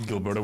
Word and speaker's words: Gilberto: issued the Zeroth directive to Gilberto with a hard G is crazy.